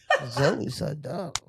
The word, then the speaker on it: Zoe Saldana: Zoe Saldana.